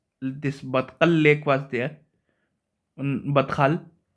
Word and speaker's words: Badkhal: Batkal, Badkhal, I think it's pronounced Badkhal lake, has been dried up.